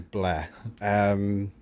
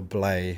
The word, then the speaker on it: Blair: Back when I was known as Blair, or Blay, as it's commonly mispronounced.